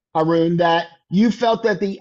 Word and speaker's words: Arun: What's your first name? Arun. What is it? It's spelled A-R-U-N.